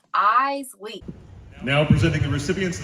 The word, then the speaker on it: Iseli: And so I put on there, pronounced eyes, like your eyes, and then dash Lee, L-E-E. Spell it. Iseli. E-Y-E-S, like your eyes, and then L-E-E, Lee, eyes, Lee.